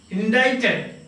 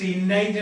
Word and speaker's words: indicted: They haven't indicted him. Indicted, INDICTED, pronounced indicted, indicted എന്നല്ല, indicted.